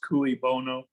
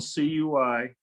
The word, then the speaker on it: cui bono: Ben, do you know the Latin phrase cui bono? I don't know that one yet. What is that one? Okay, it's 2 words. It's spelled CUIBONO, Mhm.